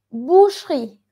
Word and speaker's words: boucherie: Es un poco difícil porque esta parte, boucherie, no diríamos, no decimos boucherie, boucherie, porque aquí la E no está tildada. Entonces esta E suena muy bajito. Entonces se suena boucherie, boucherie, boucherie.